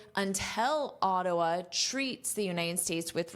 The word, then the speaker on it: Ottawa: not usually an adult, say a because when you say a, you open your mouth very wide. Aa a. And this is the stress syllable, so you hear it the most. Now notice this is a flap t, so it sounds like a d.a. Dwa dwa. Ottawa. Ottawa. Now you can say it like a native.